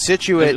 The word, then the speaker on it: Scituate: the state of massachusetts scituate gives people a lot of problems situated looking at the spelling it's not easy uh minster actually gives